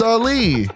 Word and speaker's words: Ali: you say you're saying Ali Muhammad Ali it's Ali you faced Ali and then known as Cashes